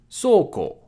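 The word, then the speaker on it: そ: teeth because they're just so sexy oh Dracula always trying to make a quick buck so it's pronounced like so in soda see how this kind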